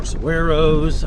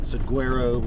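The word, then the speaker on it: saguaro: saying with g and apparently the g is silent it's not saguero it's SOS so there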